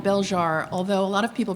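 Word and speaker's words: Belzhar: that you will see my novel is called bjar although a lot of people pronounce it belar I'll answer to anything I'll answer to Anna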